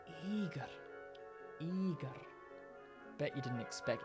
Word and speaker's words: Igor: but it turns out the stress is on the first syllable again eag now Russian has